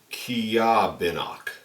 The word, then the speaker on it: Ceobanach: limited batch buah Haven kobak pronounced kabino okay kabak kabino and meaning Smoky mist